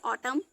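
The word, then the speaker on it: autumn: बाद एन आने पर एम के बाद जब भी एन आएगा तो वहां पे एन साइलेंट होगा जैसे ऑटम ए यू टी यू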